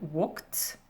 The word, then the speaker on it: walked: Ici, dans ma terminaison ED, va avoir le son T. Donc ça donne walked, stopped, watched.